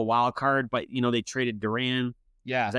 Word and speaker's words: Duran: They were only 5.5 games out of a wild card, but, they traded Duran. Yeah. Is that how you say his name? Yeah. Johan Duran.